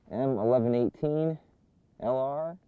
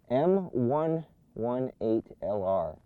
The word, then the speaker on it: M118LR: but close enough now this is the m1118 lr i think i've been saying it wrong the entire time m118lr the bottom left i'll